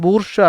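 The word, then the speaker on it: bourgeois: ഇത് വായിക്കുമ്പോൾ നിങ്ങൾക്ക് ബൂർഷ്വാ എന്ന് തോന്നൂലെങ്കിൽ സത്യമായിട്ട് പറയുകയാണ് പിള്ളേരെ, ഇതിൻ്റെ ഉച്ചാരണം ബൂർഷ്വാ എന്നാണ്.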